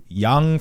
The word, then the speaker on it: Yong: how about that so it's not Wang it's why it's Yong my last name is Yong yeah that's a good